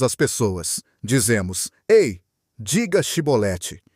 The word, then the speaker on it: chibolete: Eles não conseguiam pronunciar o som ch e, por isso diziam cibolete ao invés de chibolete.